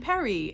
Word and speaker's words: Paris: which i recently read they had hoped everybody would pronounce emily and perry and it would rhyme but of course us as americans did not do that it's emily and paris to most of us so if you